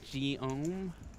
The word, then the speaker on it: Guillaume: And I've been told that my pronunciation was wrong. It's Guillaume. is the correct pronunciation.